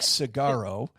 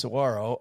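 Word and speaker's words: Saguaro: She's taking you to to Sawarro National Park. Oh, cool. I don't know the name. It looks like It looks like Cigaro. Uh but it's pronounced Sarro.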